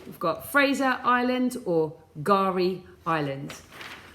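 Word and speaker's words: K'gari: would spell it so that's Kagari remember I said it was pronounced gari island okay because it is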